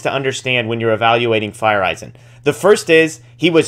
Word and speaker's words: Feyereisen: acquiring relief pitcher JP fire Eisen and I've had to practice my pronunciation fire Eisen according to MLB uh excuse me baseball reference but JP fire Eisen